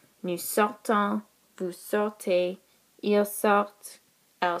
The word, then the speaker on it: sortent: Nous sortons, vous sortez, ils sortent, elles sortent. The only difference here is that you do pronounce the T, the first T, on this final conjugation.